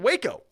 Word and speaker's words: Waco: who was involved in waco let's not pronounce wacko okay for years chitman